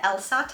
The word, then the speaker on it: LSAT: to take a test I think it's pronounced LC a t the elsat I think people pronounce it so after you